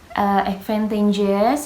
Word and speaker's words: advantageous: Advantageous has a primary stress on the first and secondary. Stress on the third syllable.